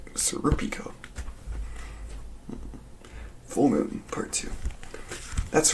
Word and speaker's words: Serpico: pronunciations a little bit apparently Serpico is actually pronounced siropica full moon part two